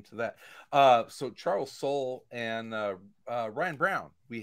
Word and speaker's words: Soule: i thought it was i thought it was charles soleil because he spells his name s-o-u-l-e and he's and he laughed he's like ah no it's it's soul it's sweel um so